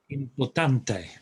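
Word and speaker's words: importante: word for important is important there's no accent on any letter and if that's the case the stress goes on the penultimate the last but one syllable so it's sorry and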